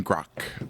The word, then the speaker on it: Gracq: in the forest by Julian Gro um is how I was told that name is pronounced why do you end names with a CQ you silly little French